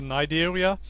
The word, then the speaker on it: Cnidaria: It's the Nigeria. And you write it down with a C before the N, but I don't think you pronounce the C.